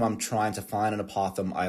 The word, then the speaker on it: apothem: A is apothem or apothem, as I pronounce it.